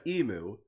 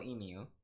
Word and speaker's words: emu: Wait, how do you spell emu? E-M-U. E-M. Wait. U. Mu. Emu. Yeah, that makes sense. That's all being pronounced. Emu. Mu. Emu. Yeah, so the U is being pronounced.